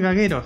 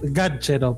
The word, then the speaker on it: Gaggero: Es Gachero, pero acá le dicen. Acá le dicen Gallero o Gajero, es el más común, o Gaguero, así que.